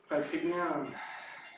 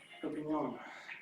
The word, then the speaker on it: Perpignan: Perpignan, or how it's pronounced. Perpignan, probably. Might have a French touch to the pronunciation, I guess.